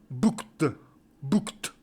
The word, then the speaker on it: booked: va prononciation le titre le titre se dit fulli fulli bookt fully bucks voilà en